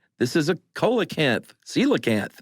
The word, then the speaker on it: coelacanth: he was able to say, this is a coelacanth, coelacanth. Right. Well, that's what he said at first, and she went, it's pronounced coelacanth.